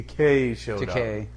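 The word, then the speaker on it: Takei: keller yeah you got the george went to k rhymes with toupee as you said in the shatner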